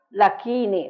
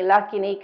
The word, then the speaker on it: Lakini: che governa il sangue lacchini la carne cacchini anahat Scusate il grasso shini le ossa hakini il midollo e yakini seme in realtà io un po' italianizzato Qui si dovrebbe dire dakini rakini lakini kini sakini rakini e